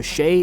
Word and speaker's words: Chec: And no, Shay is spelled C H E C.